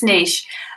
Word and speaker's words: niche: chris ducker on and he said people in the uk and people in the us say niche and niche different how do you say it it's niche um okay i i